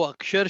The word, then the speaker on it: अक्षर: वो अक्षर शब्द है, ये है अक्षर, अ और क्षर।